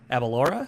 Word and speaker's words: Aberlour: Aberlour is how you say it from the YouTube videos that I had to watch about how to say it.